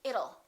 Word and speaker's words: it'll: don't say it till let's change that T into a fast D and say it'll it'll rain it'll be hot it'll be nice it'll rhymes with the word little we don't say little